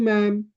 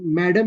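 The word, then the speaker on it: ma'am: tense how about you मैम अब यहां प प्रोनाउंस मैं आपको बताया हूं ठीक है ये डी जो है साइलेंट है तो मैडम नहीं कहेंगे हम क्या कहेंगे मैम कहेंगे ठीक है सो प्लीज कीप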